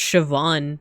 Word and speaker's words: Siobhan: It's like with Irish. As long as you know the rules, then like you'll know how to pronounce it. That's why... Wait, let me put it here. That's why this name that I put in the chat is pronounced Siobhan, right?